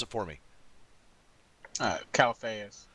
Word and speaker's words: Calphayus: tonight I'm extremely excited to have with us calus uh Cal calus calus say it pronounce it for me uh Calas Calas now Calas uh has been a member for